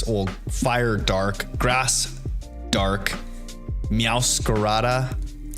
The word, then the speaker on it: Meowscarada: Having the dark fire incineroar, dark grass, or fire dark, grass dark, meowscarada, as I would try to properly pronounce it, instead of meowscarada. the gringo way.